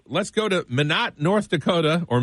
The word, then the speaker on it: Minot: Number 2, let's go to Minot, North Dakota, or Minot, North Dakota, whichever you'd like to pronounce it.